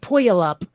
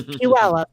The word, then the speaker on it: Puyallup: pu all up because it sure looks like poyolap but it's puella well again with the